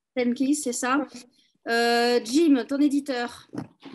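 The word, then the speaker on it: Steinkis: que Paulina, c'est ton éditeur, c'est comment on prononce? Stankis. Stankis, c'est ça.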